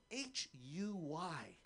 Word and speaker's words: Huy: I have an American name, but my Vietnamese name is spelled H-U-Y, and it's pronounced Huy. Huy is my real name.